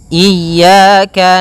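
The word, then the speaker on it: إياك: ini hati-hati dalam pelafalannya ada dua kesalahan yang sering terjadi yang pertama yaitu dia memanjangkan Iya nah seperti itu harusnya dia ee ditekan dan dilembutkan iyaka iyaka nah kemudian jangan sampai dibaca panjang jangan iaka tidak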